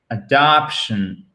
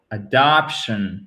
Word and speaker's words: adoption: Vous avez un E atténué ici. Là, vous faites, alors oui, je sais, je gribouille, mais c'est pas grave. Vous faites ici votre accent tonique et après, vous avez bien le "tion" qu'on doit tout de même entendre.